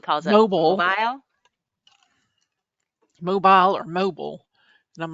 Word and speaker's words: Mobile: up smile mobile or mobile and I'm like no it's mobile it's no video mobile like mobile phone yeah like bile mobile it sounds like a